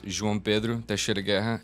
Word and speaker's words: João Pedro Teixeira Guerra: My name, if you can pronounce it right, is João Pedro Teixeira Guerra.